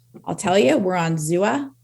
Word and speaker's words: Xooa: So now I'll tell you, we're on Zua. It's spelled XOOA.